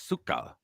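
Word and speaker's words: сука: yka in in in Ukrainian it's or it's pronounced Suka actually but but it's C yka but it's Suka but it looks like siika but it's it's pronounce Suka yeah I just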